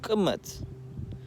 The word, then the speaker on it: Kemet: Kemet means to live in, and it's pronounced Kemet.